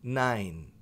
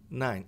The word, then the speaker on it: nine: Por que que esse e não é pronunciado?